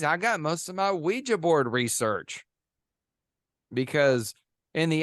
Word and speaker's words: Ouija: really is pronounced um According to some sources it should be called we G because the name came